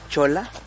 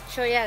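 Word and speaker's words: Cholla: Nos encontramos en Choya o Chola. Choya. La pronunciación correcta es Choya Garden.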